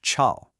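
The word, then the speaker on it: 潮: The word chao means noisy, but if you just change that dipping and rising tone to one that only rises, it becomes chao, and that means humid.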